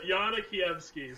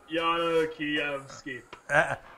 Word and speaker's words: Yana Kievsky: Alex, and just give me the pronunciation one more time. It's Yana Kievsky, so it's just Yana Kievsky.